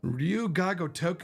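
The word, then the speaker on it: Ryu ga Gotoku: Ryuga Gotoku. Ryuga Gotoku is how you say it, guys. Ryuga Gotoku.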